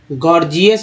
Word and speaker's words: gorgeous: दे देते हैं आपको, GORGEOUS, गॉर्जियस में पहला जी ग, दूसरा जी जो है ज के रूप में उच्चारण किया गया, गॉर्जियस, है ना।